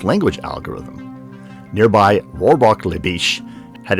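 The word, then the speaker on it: Bitche: the french town of veal de bish spelled with an e at the end was taken down by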